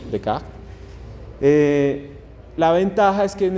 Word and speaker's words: Descartes: La idea en este sistema de coordenadas rectangular se llama cartesiano por un filósofo, se llama Descartes, lo pronunciamos en español, Descartes.